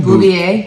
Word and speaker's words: Beauvais: Bouvet.